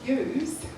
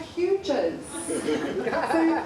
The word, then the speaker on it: Hughes: when you realize that my maiden name was Hughes and you spell that with a G and I used to teach primary school and then when you read it on the page it looks like hugees all the pies and